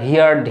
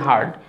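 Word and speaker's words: heard: আমরা অনেকেই ভুল করে এই দ্বিতীয় এবং তৃতীয় ফর্মটির উচ্চারণ হিয়ার হিয়ার্ড হিয়ার্ড বলি, হিয়ার হিয়ার্ড হিয়ার্ড।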